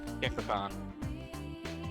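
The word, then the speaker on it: Gekkoukan: Gekkokan.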